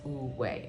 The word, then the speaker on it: Wu Wei: It's spelled Wu Wei, but it's pronounced Wu Wei, okay?